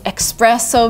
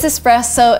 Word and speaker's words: espresso: is espresso and yes you're attempted to say Express so because of express and stuff but no it is espresso it is an Italian word so please say it correctly and by the way